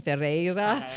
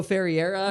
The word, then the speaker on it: Ferreira: It's like a Portuguese name, Ferreira. I think a lot of Americans will say like Hugo Ferreira or something, but that's not how it's spelled.